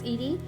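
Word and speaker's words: Eady: looked up Dorothy Edy I think her last name is pronounced Edie Dorothy was born in 1904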